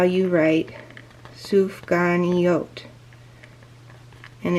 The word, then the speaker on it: sufganiyot: They pronounce it sufganiyot.